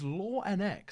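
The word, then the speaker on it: LNZ: to pronounce his name is it Longs is it law X but no I dropped him a message it's La NX so for many of us FX fan yeah that's exactly how he said it's like FNX but instead of the F it's law so I think the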